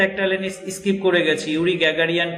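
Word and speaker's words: Yuri Gagarin: After the flight of ইউরি গ্যাগারিয়ান, আমরা যদি বাংলায় বলি তাহলে আসবে জুরি গ্যাগারিয়ান, কিন্তু ইংরেজি উচ্চারণের ক্ষেত্রে এটা আসবে ইউরি গ্যাগারিয়ান।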